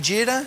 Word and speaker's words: jeera: Am I saying it right, jeera?